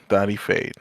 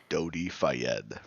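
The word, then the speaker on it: Dodi Fayed: Oh, you just said it in a in a different accent. That's how you say it. Uh, America. Yeah, that's actually Middle Eastern, but sure. Go ahead. No, I know. But I'm saying we're in America.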